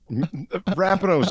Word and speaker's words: Rapinoe: Rapinoe's just... Rapinoe, that's how you say it.